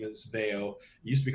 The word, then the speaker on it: Veio: of rome called veo uh the the modern pronunciation of the name is veo used to be called they with no o